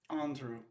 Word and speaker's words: Andrew: Andrew. Okay, so yeah, it's pronounced Andrew.